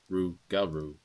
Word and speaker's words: Rougarou: was old legends of the Rougarou, which is pronounced Rougarou.